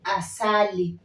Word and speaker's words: asali: they use honey okay so in Swahili we say asali as Sally so the pronunciation doesn't change even if it comes